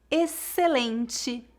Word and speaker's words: excelente: exemplo táxi complexo oxigênio um detalhe importante a letra x é muda quando seguida pela letra por exemplo excelente excesso exceção Espero que você